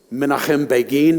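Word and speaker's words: Begin: recognize any faces okay minim be which we call manakum Bean um it's required in American English to mispronounce every Hebrew word just keep that in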